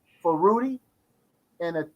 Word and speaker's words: Rudi: So I decided to go ahead, Rudi. That's how to pronounce his name.